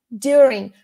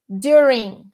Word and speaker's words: during: Quando a palavra termina em NG, a gente finge que o G não existe na pronúncia.